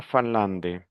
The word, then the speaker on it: Finlande: La nasalisation ici, en. N'oublie pas la règle, en. Répétez, la Finlande, finlandais, finlandaise, la France,